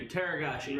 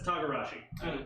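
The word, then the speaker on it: togarashi: Thank you, Teragashi. right over my head. Or Tagarashi. That's yeah, that's what it is. Tagarashi.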